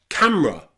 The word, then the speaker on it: camera: Remember, if you're speaking more slowly, you can pronounce the letter E. Different, interest, and camera. But when you're speaking really quickly outside, you don't need the letter E. Camera, interest, different.